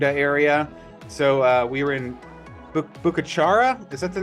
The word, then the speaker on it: Bucaramanga: So we were in Bucachara. Is that the name of the town? I don't know. Well, it's the prettiest little town in all of Colombia. I can't think if it's Bucachara.